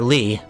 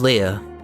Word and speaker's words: Lea: I thought her name was Lee, but just before streaming this, I decided to try to look for a consensus on what her name actually is pronounced. It definitely looks like the consensus is Leah. So I'm gonna go with that.